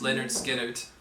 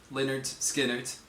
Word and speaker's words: Lynyrd Skynyrd: us this guy I did some research it's pronounced Leonard skard Leonard skard and the song is called Freebird uh this